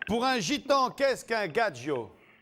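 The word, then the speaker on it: gadjo: Gadgio et on me confirme que c'est dans le dictionnaire. Gadgio, ça s'écrit G A D J O.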